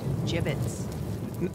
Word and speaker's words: gibbets: out of here hey look Avery had some gibbets left over jibbitz what it's pronounced jibbitz are you sure yeah well no one likes